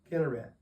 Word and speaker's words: Chinneroth: Now it says in the plain south of Chinneroth. What is that? Chinneroth. You have any idea what that means? Kinneret is another pronunciation for that.